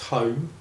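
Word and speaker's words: Holme: interesting, because my name's Home. It's pronounced Home, just like Home Sweet Home, and the home where you live, home where your heart is.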